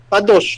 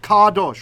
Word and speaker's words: kadosh: Kadosh. Good. Kadosh, right?